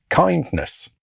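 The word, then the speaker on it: KINDNS: He discusses a program in ICAN called kindness. It's spelled differently to how it sounds. It's a joke on DNS.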